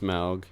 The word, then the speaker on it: Smaug: It is pronounced Smaug.